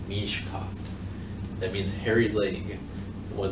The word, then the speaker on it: Mishicot: Mishicot. Now, the correct pronunciation of that is Mishkat. Mishkat.